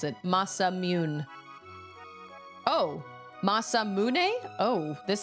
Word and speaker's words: Masamune: Masamune. That's how you pronounce it. Masamune. Oh, Masamune. Oh, this says it's a Japanese swordsmith. It's pronounced Masamune.